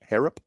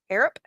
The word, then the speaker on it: Harrop: Uh Jack Horro. Harrop. Spell it. H A R R O P. Harrap. Harrap.